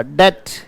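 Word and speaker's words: debt: य डेट डेट नहीं इसका उच्चारण क्या होगा डेट डेट डे के बाद ट लगा दो सीधा डेट यह डे है और ट है बोलो डेट राइट तो मैंने कहा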